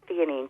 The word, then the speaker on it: L-theanine: It's spelled with a capital L and then the word theanine, Theanine.